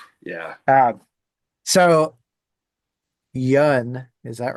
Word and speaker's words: Yun: for me is watching people try to PR pronounce some band names you're like what the yeah so Yun is that right that's correct yeah all right